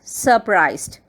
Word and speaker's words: surprised: the highlighted word here surprised surprised it has two syllables sir priced what is the pronunciation surprised here R is silent so surprised what is